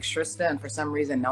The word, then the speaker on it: Shrista: It rhymes with Krista, Shrista.